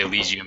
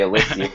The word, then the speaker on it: Elysian: your website um so so I I say alian but it's how you say it what's dude I honestly I don't even know I have a feeling we pronounce it wrong and we're the developers we just sound like maybe it's because we're rednecks we say alysian but I I think alian is correct so don't stop and